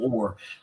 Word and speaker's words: Oher: __ ] but yeah it's Michael Oher do you know like the ore with you that you paddle with that's how it's pronounced who suppose adoption